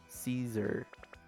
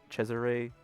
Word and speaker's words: Cesare: I thought his name was, his name's pronounced Cesare. I thought it was Caesar."